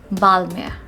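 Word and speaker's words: Balmain: l m a h we are not going to pronounce pronounce n over here and it's going to be silent and we are going to pronounce it as balmer repeat with me guys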